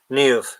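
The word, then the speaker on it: Niamh: banana um my favorite Irish girl's name is neov that's not how you spell neov but yeah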